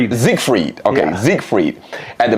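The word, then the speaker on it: Siegfried: Is it Zigfrieded? Zigfrieded.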